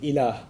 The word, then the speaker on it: ilah: La ilaha illallah, in which there's the term ilah.